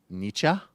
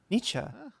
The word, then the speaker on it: Nietzsche: Nietzsche. Nietzsche. This line is hilarious. The concept of It rhymes with teacher.